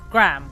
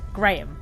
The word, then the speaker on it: Graham: second of all we don't pronounce the name Graham we pronounce it Graham so it's grae but it really puts me off at everyone in this game is is calls him Graham um what all do I do this then